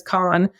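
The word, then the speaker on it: Cannes: it's in I guess the right proper way to say it is Khan Khan is in the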